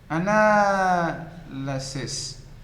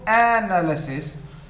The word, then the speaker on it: analysis: The other one, analyst, analyst, analysis, the 2nd syllable, analysis. It is not analysis, it is not analysis, it is not analysis. So the 2nd syllable is the first one, analysis. The verb, analyze, analyze.